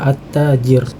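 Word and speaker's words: التاجر: karena dia ada tasydidnya, at-tajir ya. Jadi huruf lamnya ini tidak diucapkan ya, seakan-akan dia tidak diucapkan, walaupun mungkin tertulis di sini alif lam, tapi dia tidak diucapkan ya. Jadi kita langsung membacanya at-tajir, jadi langsung masuk ke at-tajir ya, thayyib.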